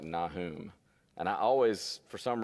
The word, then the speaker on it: Nahum: I've always pronounced it Nahum, but I'm told that it's pronounced more like Nahum.